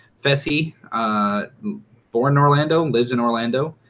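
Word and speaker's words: Fessy: manager we've got feci that is how it's pronounced feci born Orlando lives in Orlando he's a substitute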